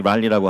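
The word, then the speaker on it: Rally: 보통 발음을 많이 하는데 저도 웰리인 줄 알았더니 랄리라고 하더라고요이 창업자 분께서이 말리라는 프로그램은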